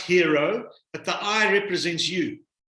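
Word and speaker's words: HIRO: yeah it's called the hero line spelt h-i-r-o pronounced hero but the i represents you so i i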